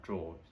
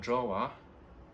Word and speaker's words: drawer: in tables tables have drawers okay so it's not called drawer it's called draw so it's pronounced the same way as the verb when you draw something so i could say